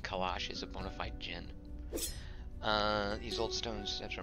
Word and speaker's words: djinn: It's funny when you write it D-G-I-N-N and people try to pronounce the D. They say people, a friend of mine would swore that, no, it's called, that's Dijin. Dijin. It's Jin.